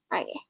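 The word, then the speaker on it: を: sama ya, bukan teman-teman, ini sebenarnya dibacanya wo nanti, tapi berubah jadi o karena ini ada bintangnya, karena nanti kalau jadi partikel kita bacanya o. Kalau jadi partikel ya teman, khusus jadi partikel bacanya o.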